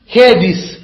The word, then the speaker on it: Hades: பாதாளம் கிரீக்கில் பாதாளத்துக்கு ஹேடிஸ், HADES, ஹெடிஸ் அல்ல ஹேதிஸ், ஹேடிஸ் DES அல்லது இங்கிலீஷ்ல ஹேட்ஸ் என்று வேணும். அத சரியா சொன்னா கிரீக்ல ப்ரொனவுன்ஸ் பண்றது ஹேடிஸ், ஹேடிஸ், ஹேடிஸ்.